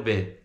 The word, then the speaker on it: bit: e fica a little bit. Observe que nesse bit a gente não pronuncia o som do último T. Você vai falar B e vai colocar a língua no céu da boca.